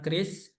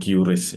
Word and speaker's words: QRIS: Jadi menurut BI membacanya Kris ya bukan quris ya. Kalau kuris itu ya salah gitu. Jadi sudah diindonesiakan membacanya Kris.